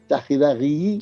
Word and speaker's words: Chaxiraxi: ya en ese lenguaje que entendían los isleños, los guanches en este caso, pues Chajiraji significa textualmente, escrito Chaxiraxi con X, Sí. Sí. Chajiraji, Ujú. pronunciado así, Chajiraji, Sí.